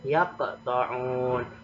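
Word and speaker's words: يَقْطَعُونَ: Maka cara membacanya agak ada pantulannya, seperti ada pantulan. Yaq, ya, yaqta'un.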